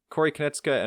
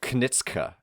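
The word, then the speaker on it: Konieczka: And then Corey is like Knitska or something.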